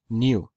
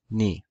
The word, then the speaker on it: nu: to form moo new In classical Greek I believe it was pronounced something like new in Co Greek it was pronounced new in modern Greek it's pronounced ni New probably came from